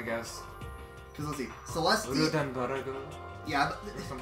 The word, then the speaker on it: Ludenberg: I am Celestia Ludenberg. The ultimate gambler. Celestia Ludenwana? No, it's not that hard, Makoto. For Japanese pronunciation, it could be, possibly. Yeah, I guess. Because let's see. Celestia. Ludenberg.